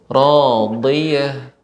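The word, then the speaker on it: راضية: Fa huwa fi 'ishatir radiyah. Nah, huruf dad Ibu, radiyah. Fa huwa fi 'ishatir radiyah. Bedakan Ibu pengucapan ujung. Kalau ujung radiyah. Adapun bagian tepi radiyah.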